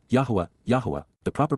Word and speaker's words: Yahowah: Revelation and understanding we now know but W yahwah yahwah the proper pronunciation of the name of eloah God as